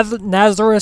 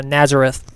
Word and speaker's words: Nazareth: race at Nazareth Speedway I know I mispronounced it earlier Nazareth Speedway yes this track was